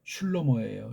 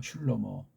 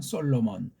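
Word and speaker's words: שלמה: 거기에 둘째 아들이 슐로모예요. 슐로모. 우리네 발음으로는 솔로몬. 슐로모라고 발음하는 게 좀 낫겠죠?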